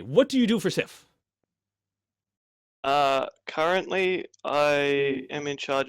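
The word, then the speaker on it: Syf: That's pretty good pronunciation of it. Works fine enough. Great. So you work with Scythe. That's how you say it. Sith. Sif? Okay, Sif.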